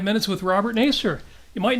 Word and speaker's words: Nasir: By the way, it is indeed pronounced Nasir. Mm-hmm. Sounds kind of negative. Maybe we should change it to yes, sir.